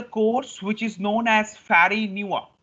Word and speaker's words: Farineaux: So you can see it's not Fari Neops. Actually, the pronunciation looks like Fari Neops, but it is actually uh, when I say this word, it will be known as Fari Nua.